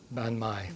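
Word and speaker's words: bánh mì: hand with the pronunciation your turkey bond my or me been my been my okay it's a Vietnamese sandwich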